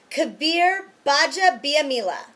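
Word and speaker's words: Kabeer Gbaja-Biamila: a defensive end for the Green Bay Packers Kabir Baja biamila Kabir Baja biamila also known as KGB Kabir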